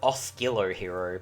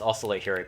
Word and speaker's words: Oscillo Hero: like a random tidbit i used to call it oscillo hero but it actually is ocelo hero because it's um based off the word oscillation which is you pronounce